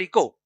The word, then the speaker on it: eco: Okay, pronunciation is eco, not echo. Don't pronounce it as echo. Okay, remember this. This is common mistake people do. They pronounce it as echo. That is wrong. This is eco.